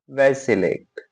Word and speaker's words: vacillate: Word है वैसिलेट, वैसिलेट, वैसिलेट, वैसिलेट, ठीक है? वैसिलेट, ठीक है? अपन किसको बोलते हैं ना वैसिलेट, ठीक है? तो वो उसी तरह का प्रोनाउंसिएशन है कि ऐसे मत लेट वैसे लेट, तो वैसिलेट, ठीक है?